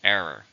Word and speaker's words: error: How many syllables are in error? 2. Stress on the first. Error.